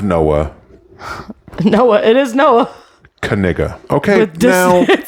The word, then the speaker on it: Kaniga: No one had money on his name being pronounced Kaniga.